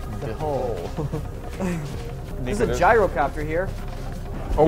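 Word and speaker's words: dhole: No, it's not a D-hole, Sam. It was a lowercase D and an H right after it. It's pronounced the hole.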